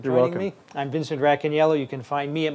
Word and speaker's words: Racaniello: The It's accent's Vince on the second syllable. Racaniello. No, it's not It's Racaniello.